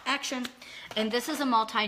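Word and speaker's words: Axion: talk about action it's a xio n which pronounced action action and this is a multi nutrient do not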